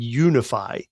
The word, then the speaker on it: Younify: I have tried it this is called unify it is not spelled the way you would expect it it's spelled y-o-u get it you Nephi so this is